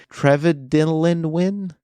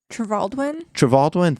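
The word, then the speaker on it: Trevaldwyn: And the choice of Henry, I'm going to pronounce his name wrong, but Henry Trevelyan. Trevaldwin, thank you for saving Harry me.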